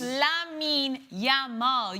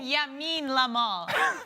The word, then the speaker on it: Lamine Yamal: It's Lamine Yamal. You keep saying Yamin Lamal.